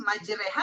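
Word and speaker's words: مجريها: Imalah itu ada ee bacaan bismillahi terus majreha apa majroha tuh? Majreha. Majreha dariha ke majreha kan ya. Iya. Dari majraha hurufnya fathah ya. terus dibacanya majren, Pak.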